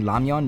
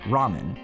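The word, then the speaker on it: 라면: I also want to take a moment to talk about how Mera saying lamian made me unreasonably happy because yeah, that's how it's pronounced in Korean.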